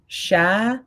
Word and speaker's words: Sharareh: How you pronounce it? Sharareh? Sharareh.